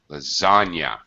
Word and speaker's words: lasagna: This is not really a native English kind of word. It comes from another language, so it doesn't sound in English like it's spelled.